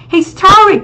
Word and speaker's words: historic: Historic thì nó sẽ là trọng âm 2 đúng không?